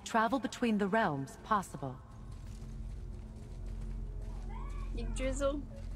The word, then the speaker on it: Yggdrasil: The YGG is pronounced like egg, but if you lived in Africa, like a certain part of Africa, so it would be like Yag.